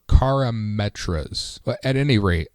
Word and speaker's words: Karametra: Yeah, I think it's Chimerita's or Chimetra's Blessing. Is that the name of it? Yes, it's a new card. It is a Chimeritra's Blessing. I was pronouncing it incorrectly. Yeah, or Karametra's.